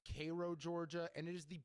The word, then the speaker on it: Cairo: I brought up Cairo, Georgia. It's actually pronounced Cro, Georgia, and it is the birthplace of one Jackie Robinson.